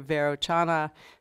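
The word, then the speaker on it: Vairochana: And the person mentioned as the charioteer is the translator Verochana, in Tibetan called Berotsana, which some people like to keep that pronunciation of it.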